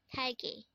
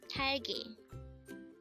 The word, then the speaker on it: 딸기: Talgi. Talgi. This is pronounced as a two-syllable word. The first syllable is ta, second syllable is gi.